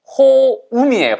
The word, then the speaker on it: home: 이거 home 아니에요. 호음이에요. 발음이 home. 그러니까 home이 파이 딸 때 그 home이 아니고 호 다음에 음을 집어넣으셔야 돼요.